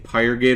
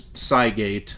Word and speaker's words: Cygate: I'm looking at the screen there, and I was saying Pyregate earlier. No, it's Cygate. That's... I was saying it wrong earlier when I was trying to open the damn things.